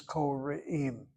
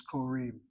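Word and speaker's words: קוראים: This word is koreim. I cannot tell you how many times I hear Ashkenazim read that word as korim.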